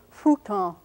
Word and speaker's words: futon: some languages like Japanese Japanese word for mattress is futon and that's a bilabial it's sort of an F like sound but it doesn't involve